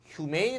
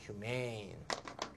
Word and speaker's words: humane: 예, 마지막 humane 나왔습니다. humane, humane. 이거 발음 잘하셔야 돼. 요건 humane이고 비교해 보세요. 얘는 human이야. humane. 얘는 human. 알겠죠?